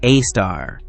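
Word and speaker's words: Sagittarius A*: At the very center of the galaxy lies something truly extraordinary, a super massive black hole called Sagittarius Az pronounced a star.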